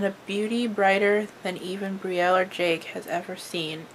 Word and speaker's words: Brielle: It's B-R-I-E-L-L-E. So like Brielle went to school to chase her dreams and found tragedy instead.